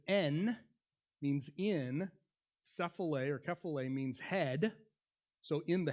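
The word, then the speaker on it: κεφαλή: Another key to this is the Greek word for head, which is pronounced kephale, but when we bring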